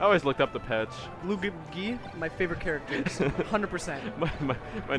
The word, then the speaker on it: Luigi: Luigi, my favorite characters, 100%. My nephews just always pronounce Luigi wrong.